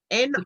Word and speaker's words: Nictritious: Nictritious. Correct. It's like nutritious, but with Nick, because she's Nicole.